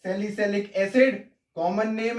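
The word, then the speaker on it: salicylic: सैलिसैलिक acid. क्या बोलते हैं? सैलिक एसिड। बच्चों स्पेलिंग एक बार देख लेना, इसको बोलते हैं सैलिसैलिक एसिड।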